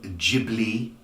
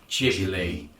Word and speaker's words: Ghibli: I do like Studio Ghibli. It's a bit like giblets, though, when you say it like that.